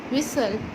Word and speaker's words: whistle: विसल, यहाँ पर ये मिस्टेकनली उनसे W हो गया है, यहाँ पर साइलेंट T है। ओके, यहाँ पर साइलेंट T है। विसल।